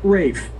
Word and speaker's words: Ralph: pronounced Rafe.